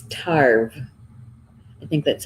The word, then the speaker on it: Tarbh: So, and how to spell it in Gaelic is Tarbh, but it's pronounced Tarbh.